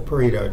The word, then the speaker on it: Pareto: That's the Pareto chart, and that's how you pronounce it.